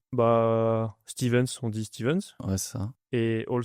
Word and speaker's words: Stevens: Stevens, on dit Stevens Ouais, c'est ça. et All Sponsored. Ok. Ah, parce que des fois on prononce pas ou All Sponsored.